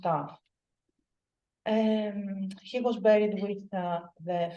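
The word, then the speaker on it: ταυ: Or with the letter T, which in Greek is pronounced Tav.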